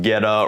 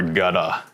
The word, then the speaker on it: Goetta: um and it's pronounced ghetto or gutta it's not pronounced in any sort of german way it is ghetto or